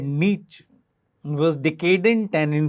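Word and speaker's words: Nietzsche: of the sentence the first the word is Niche that's how his name is pronounced it was decadent decaying in feebled weak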